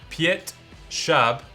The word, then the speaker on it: Piotr Schab: again I took a little lesson how to pronounce his name okay Piatt sharp has climbed the nine B in Spain Piazza